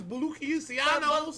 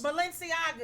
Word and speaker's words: Balenciagas: Balencianos. Balenciagas.